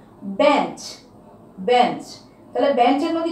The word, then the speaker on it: বেঞ্চ: বেঞ্চ, বেঞ্চ।